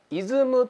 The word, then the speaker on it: ism: 次は 2 番 ism と書いてますけどもイズムと読みますリズムですこちらは